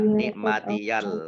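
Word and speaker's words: نعمتي: Ini harusnya nikmati, tapi karena bersambung dengan huruf berikutnya maka menjadi diberi harokat fathah. Nikmatiyal lati.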